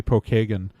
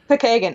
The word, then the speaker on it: Pokagon: hear it more often it's it's okay everyone mispronounces Pokagon State Park it's supposed to be Pokagon Pokagon I know Pokagon right but everyone I know